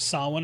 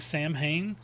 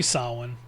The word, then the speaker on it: Samhain: And I'm begging you, stop saying Sam Hayne. There's an Irish guy out there that's going to club you in the head if you keep saying it. Thanks for watching. Happy Sawin, blessed sin, or just